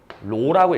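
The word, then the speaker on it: ρ: 미리 한번 알려 줄게요요 이상하게 생긴 기호 있죠 읽을 때는 로라고 읽어로 그리스 알파벳 소문자입니다 로라고 읽는데 얘는 뭘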